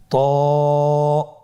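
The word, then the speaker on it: ط: তো হরফটি মোটা হরফ, এটা উচ্চারণের সময় অবশ্যই মোটা করতে হবে এবং উচ্চারণ করার সময় 1 আলিফ টেনে পড়তে হবে। আমার সাথে বলুন ত।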